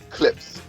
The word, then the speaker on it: Clipse: It's Clips. Clips. Clipse. Clips Okay. and Neptune. Clips kind of, is it spelled like the speakers? I don't know about the speakers. Maybe like the car without the E.